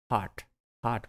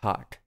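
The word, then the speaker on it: heart: Then is a pumping device, pumping device means हार्ट होना चाहिए। अच्छा, इसको ये लफ्ज़ जो है इसको it should be pronounced as हार्ट, इट इज़ नॉट हर्ट,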